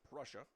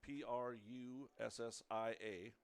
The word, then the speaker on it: Prussia: I was pronouncing his name wrong and he pronounces it Prussia. It's spelled P R U S S I A pronounced Prussia.